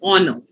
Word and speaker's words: honor: no one says or no like you don't pronounce the art very prominently it's honor um so the first o is still pronounced